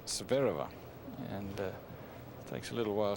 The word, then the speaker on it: Zvereva: her name you know I always used to call a sphere Ava but she liked to call herself severe over and takes a little